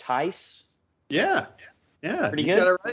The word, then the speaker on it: Theis: We've got filmmaker and as I've recently learned, podcaster, and I'm assuming it's pronounced Theis.